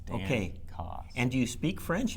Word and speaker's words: Dancause: it's one word, and in France it's spelled Dancose, but they anglicized it in Quebec. So my grandfather was Quebecois, and then Dancause, like it sounds. Dancause.